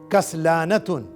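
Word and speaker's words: كسلانة: Lazy, inactive feminine के लिए कसलानतुन. काफ के ऊपर फतहा, सीन के ऊपर सुकून, लाम के बाद लॉन्ग वावेल अलिफ, कसला. नून के ऊपर फतहा और राउंड ता के ऊपर तनवीन, कसलानतुन.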